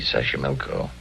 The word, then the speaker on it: Xochimilco: So you pronounce it better than I do. It's easy, Xochimilco.